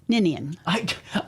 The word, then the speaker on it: Ninian: Ninian.